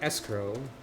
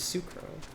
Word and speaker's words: S'crow: think ulad is correct some of these are not pronounced in obvious ways like the asinsuco is su she's not escrow she's not sacro she's sucra not that the game